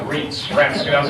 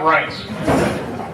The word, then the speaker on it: Reince: But because of the work that Reince had done, by the way, members of the Senate do not know how to pronounce his name. They pronounce it Reince, everything but Reince.